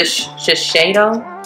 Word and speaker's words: Shiseido: Usually I use a Shiseido.